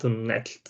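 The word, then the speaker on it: Dalton Knecht: be going with Dalton Necht, or whatever his name is. I can pronounce the second name. Connect, yeah. You say the K?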